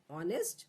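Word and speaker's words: honest: ही वॉज ऑनेस्ट मैन, तो यहाँ पर ऑनेस्ट में एच साइलेंट है, इसीलिए यहाँ पर एन। ही वॉज एन ऑनेस्ट मैन।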